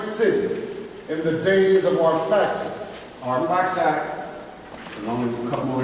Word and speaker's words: Arphaxad: This was our father Shem's son, Arphaxad, is how his name's pronounced here.